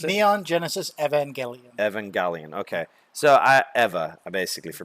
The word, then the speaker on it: Evangelion: How do you pronounce it? Neon Genesis Evangelion. Evangelion.